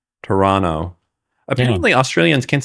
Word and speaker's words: Toronto: I just say so you're not supposed to say the T in orano well you didn't say either T there you you didn't specify which T I didn't say the second one so I feel like it's implied Toronto Toronto apparently Australians